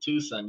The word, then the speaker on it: Tucson: You pronounced it Tucson. Yes, sir. I pronounced it Tucson. It's Tuscan or Tucson, but I'll pronounce it Tucson. See, it's silent.